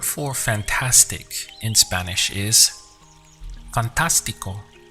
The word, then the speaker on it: fantástico: The word for fantastic in Spanish is fantástico. Notice the accent over the A. This is the point where you have to stress. So we get fantástico. Fantástico.